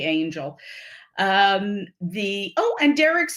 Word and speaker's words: Angell: thursday puzzle but also he says the second l is silent thank you for that